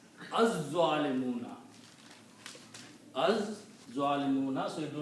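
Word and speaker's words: الظالمون: It kills the sound of lam, and you pronounce za twice. Az-zalimuna.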